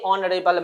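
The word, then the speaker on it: honourable: तो देखिए next option में है ही इज ए ऑनरेबल मैन। अब यहां भी देखिए है तो यह भी इनकरेक्ट हो जाएगा क्योंकि एच यहां पे साइलेंट है और ऑनरेबल है तो ऑनरेबल एक वोवेल साउंड ले रहा।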